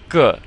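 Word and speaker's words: 个: Alright, here we have the measure word ge. And again, that E sounds somewhat like and duh. So we put a G before it and we come up with ge.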